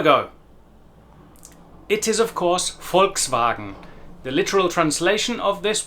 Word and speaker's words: Volkswagen: Pay particular attention to the long German A sound in Volkswagen, Volkswagen. It may be different to the way you pronounce an A in your native language. You will also notice our first major difference in pronunciation in that the V sound at the beginning of the word Volk and Volkswagen is very much like an English F, and the W sound